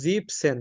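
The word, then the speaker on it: siebzehn: দিছি এখানে যেটা 17 17 কে আমরা বলব জিপসেন জিবেন হবে না এখানে জিপসেন হবে ই এন টা হবে না জিপ সেন বাংলাতে আমি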